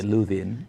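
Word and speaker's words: Lothian: meant to be pronounced yeah luian yeah not loan yeah well thank you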